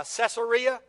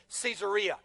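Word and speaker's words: Caesarea: you pronounced it uh Cesaria but but it's named after Caesar. And because it's named after Caesar, better pronunciation is Cesaria.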